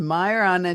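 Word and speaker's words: Majorana: It's a Myana 2.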